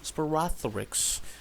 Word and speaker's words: Sporothrix: Yeah, that's how it's pronounced. Sporothrix.